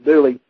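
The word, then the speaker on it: Dula: certain thomas c doolin actually pronounced dearly as in the song hang down your head tom dooley uh and the infamous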